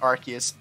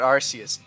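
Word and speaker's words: Arceus: of comments about it yes I'm saying it right it's archus not arus every time I bring up archus in a video little rats come out of their holes to tell me I'm wrong but guess what I'm not the Pokémon company decided to change it to archus because the original pronunciation of arus sounded like ARs and we can't have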